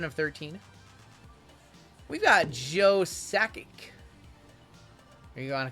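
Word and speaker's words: Sakic: We've got Joe Sackic. Are you going to correct me on that? Did I say it right? JML Sackic. Satchic.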